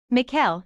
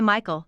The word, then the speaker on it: Mikhail: what's your middle name Mikhail he says people always mispronounce it and say Michael though gets annoying miles Mikhail Archer I say